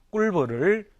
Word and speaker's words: 꿀벌: 근데 실제 많은 사람들이 꿀벌을 된소리로 발음합니다. 꿀벌. 그렇죠. 꿀벌이라고 합니다.